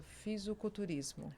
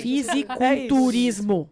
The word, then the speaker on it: fisiculturismo: Eu vejo muito, adoro essa coisa do músculo, da musculatura, da malhação, da academia e corrige a pronúncia, fisiculturismo. Físico. É isso mesmo. Fisiculturismo.